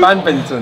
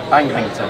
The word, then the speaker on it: badminton: No. Bangbinton. No. How do you say it? Bad. Bad. Minton. What was I saying? Bangbinton. Bangminton. And it's bad. Bad. Minton. Minton.